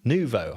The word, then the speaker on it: Nuvo: studio with us today, Ben Knap, uh from Nuvo. I think I pronounced that correctly.